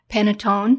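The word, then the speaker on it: panettone: collection there's Cookies Cakes frostings mering an Italian penatone is that how you say it that bread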